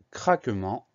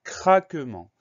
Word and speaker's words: craquement: On fait attention au son AN qui s'écrit E-N.